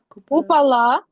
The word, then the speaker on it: Kupala: Kupala.